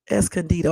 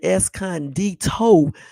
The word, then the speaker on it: Escondido: you was in Escondido es candido I used to call it eson dto until I looked at it one day and realized I was saying it wrong you know yeah um